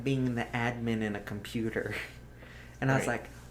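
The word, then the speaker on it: atman: but the word for it is pronounced admin.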